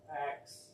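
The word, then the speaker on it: Acks: Axe. Axe? Like like a chopping axe? Or axe like act one, act two? A C K S, but Oh. it's pronounced like A X E.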